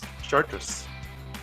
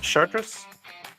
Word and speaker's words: Chartres: Chartres. You pronounce it like that? Chartres?